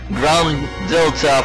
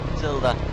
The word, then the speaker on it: Gruntilda: I always pronounce it Gruntilda from some reason, and it's Gruntilda.